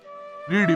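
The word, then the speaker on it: read: रीड पढ़िबा, रेड पढ़िला, रीड पढ़िथिला। एठारे रेड are eddy रीड लिखा गले मध्य एहाकु रेड उच्चारण करा जिवो।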